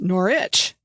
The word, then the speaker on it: Norwich: For example, Norwich is pronounced Norwich, like nor and itch, like you scratch.